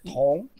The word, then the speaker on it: tong: Copper is tong. Tong. Tong. Tong. T-O-N-G. Tong. Tong. Tong. Tong. Second tone too. Okay, yeah, good. Tong. Tong. Yeah, because this part gives a pronunciation. This part means together. Tong. The pronunciation is tong.